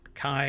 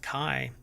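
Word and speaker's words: kei: is a 63 horsepower hot Kai or key I don't know how they pronounce that I think it's pronounced Kai hatch with a functional hood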